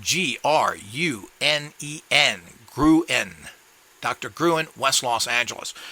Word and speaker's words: Gruen: a Swiss with a Swedish wife his name is spelled g-r-u-n-e-n grew in Dr Gruen West Los Angeles now I'm going